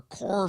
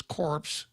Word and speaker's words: Corps: Many of us have been separated from the Corps, but we remain our core values, CORPS, CORE. Many of us have been separated from the Corps. Barack Obama would pronounce this corpse.